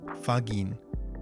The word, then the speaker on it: ファギン: So they take the first and last syllable and combine them, fagin.